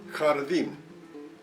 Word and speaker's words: jardín: You just say it the way you feel comfortable, like you say home or half in English. Here are some examples. Jardín, jardín, garden.